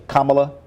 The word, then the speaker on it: Kamala: the way there's been a debate of a pronunciation of Kamala Harris I don't I don't believe you're doing that intentionally kamla Kamala Harris kamla okay fine it's just to